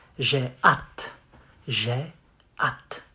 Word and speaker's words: hâte: You say, j'ai hâte. J'ai hâte. Not hat. The H is silent.